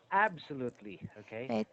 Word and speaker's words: absolutely: adjusted okay I felt our first syllable stress absolute absolutely that effect absolutely exhausted